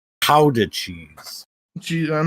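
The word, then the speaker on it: Gouda: like the Netherlands and I I called it guda cheese and he got really mad he says it's actually pronounced Howa cheese GE I'm not saying that I'm just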